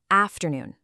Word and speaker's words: afternoon: Afternoon. Your turn. Evening. Go ahead. Department. Give it a try. Great job. Did you feel how the emphasis completely shifted to noon and afternoon?